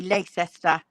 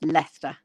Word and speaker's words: Leicester: And before we had that that I can also say Leicester, I was like, why the heck does this word have so many letters which you don't say?